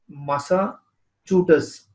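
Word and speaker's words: Massachusetts: तो ये इसका स्पेल है, और ये इस तरीके से इसको प्रोनाउंस करते हैं। तो चू जो होता है ये, आप इस साउंड को लाउड में बोल सकते हैं।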